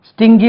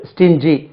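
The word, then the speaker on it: stingy: கொட்டுறதுங்க ஸ்டிங் தான் ஸ்டிங் அப்போ எஸ்டி ஐ என் ஜி ஒய் போட்டா ஸ்டிங்கி வரணும் இது ஸ்டிங் ஜி ஸ்டிங் ஸ்டிஞ்சி எப்படி சார் வந்து தெரியாது ஸ்டிங் ஸ்டிஞ்சி எப்படி வந்ததுன்னா தெரியாது இதை ஒய் சேர்த்த உடனே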